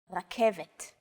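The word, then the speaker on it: רכבת: The K, V, and T sounds are practically identical to English. It's only the R that's a little different. Focus on this first letter. It's often written as an R, but don't be fooled. This letter is pronounced differently than an English R. It's pronounced at the back of the throat instead of forward in the mouth.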